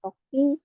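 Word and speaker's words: 時: Ini cara bacanya, ini cara bacanya itu ada dua ya, toki sama ji ya.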